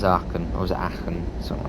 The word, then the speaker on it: Aachen: it's Eilendorf, then it's Aachen-Roverode, and then it's Aachen, or is it Aachen, something like that. There's a way to say it correctly. It's like Aachen, or something like that, Aachen, something like that, that's the way you actually say it.